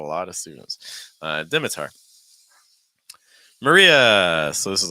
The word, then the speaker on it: Maria: I've had a lot of students uh deitar Maria so this is like your mared Maria finishing